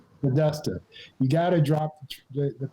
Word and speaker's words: Podesta: says you got to drop I forget the pronunciation of his name. The chief of staff, Hillary's chief of staff, Pagoli. Oh, Podesta. Podesta.